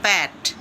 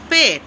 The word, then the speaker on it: পেট: যেমন অনেক সময় বলবে এটা আমার বেডরুম, হ্যাঁ, এটা আমার প্যাট। প্যাট কী রে ভাই? ওটা তো পেট, উচ্চারণটা তো জানতে হবে।